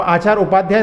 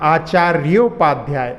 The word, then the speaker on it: आचार्योपाध्याय: हाँ, इसमें आप आचार्य उपाध्याय तोड़ना नहीं है, आचार्योपाध्याय ऐसा उच्चारण करना है इसमें।